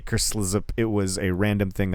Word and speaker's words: Kerslzp: You can also find Phil on Twitch under the name Kerslip, which is KERSLZP. I don't really know how it's pronounced either. I say Kerslip.